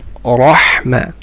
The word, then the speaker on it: رحمة: رحمة. And the ha is sharp.